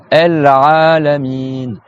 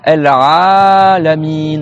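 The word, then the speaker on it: العالمين: Il y a le Rain, Al-Ra, et après, il faut bien prolonger le A. Al-Alamin. Donc, il y a le A à prolonger et le I à prolonger.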